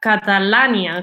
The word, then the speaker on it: Catalània: Ara ho comentaves, és un llibre d'història, de fet es titula Catalània. Com es pronuncia?